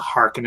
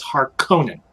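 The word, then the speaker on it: Harkonnen: series they called it they said heart cannon or something it's not Harkin and it's hard Conan it's like a it's like a very strong pronounced Russian name I think that was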